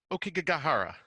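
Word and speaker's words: Aokigahara: this right I feel like you're better at pronouncing this the uh ok gahara perfect thank you Forest so I'm just going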